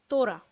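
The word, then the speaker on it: তোরা: Now the word is tora. This is the most informal form of you. Dental ta.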